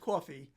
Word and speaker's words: Ko-fi: Okay, apparently the Ko-Fi / coffee fact claims that it's pronounced coffee.